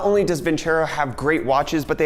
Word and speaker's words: Vincero: After I tell you about today's video sponsor, Vincero watches. Hey friends, Future Brett here. You know what one can learn in a shirt change? Vincero, not Vincero. My dumb American brain likes to pronounce things incorrectly, but let's talk about